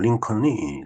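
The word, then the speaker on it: Lincoln: 링컨, COLN인데 L이 묵음이 되니까 그냥 링컨이 되겠습니다.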